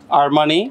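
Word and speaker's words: Armani: হচ্ছে এই আর এম এ আই এন আই আরমানি আর্মানি তারপর সি ই এল আই এন ই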